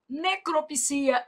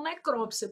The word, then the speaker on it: necropsia: Misantropo, filantropo, exegese, necropsia. Esse daqui, alguns dicionários já aceitam necrópsia, por isso que eu tô colocando até um asterisco aqui para você, tá?